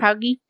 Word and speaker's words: POWGI: POWGI.